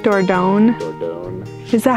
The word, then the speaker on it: Dordogne: But there's no like hard G in French.